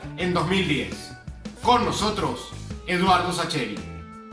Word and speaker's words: Sacheri: duda porque en realidad mi apellido se pronuncia shaker y siendo una presión italiano o lo lógico sería pronunciar los aquí pero acá en argentina como tenemos tantos apoyos italianos se ha decidido hace décadas que todo se pronuncia castellanizado dos veces sacheri para todo el mundo es h y así